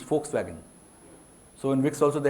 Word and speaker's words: Volkswagen: backfired so it can it is never pronounced as V it is pronounced as F and so your name